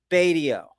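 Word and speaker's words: Batio: sawtooth now that uh beyotto guy no not biato what's his name michelangelo badeo that's how you pronounce his name he's the super shredder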